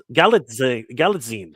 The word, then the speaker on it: Galitzine: Nicholas Galitzine. Sorry, Nicholas Galitzine. I'm gonna get Let me see. it's Galitzine. Galitzine. Nicholas Galitzine? Galitzine. Galitzine. Galitzine. Okay, Galitzine. Galitzine. I'm Yeah. gonna get it right. Okay, Nicholas Galitzine.